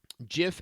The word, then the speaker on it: GIF: time the letter I or typically a vowel follows the G then we give it the jaw and so it's not a it's not an anomaly of the English language GI words are pronounced with that just sound so boom lay that down in case there's any way that argument to rest so you guys can